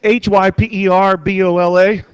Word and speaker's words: hyperbola: see if you can figure out how to pronounce it it's h y p e r b o l a hyperbola when you graph this thing it's going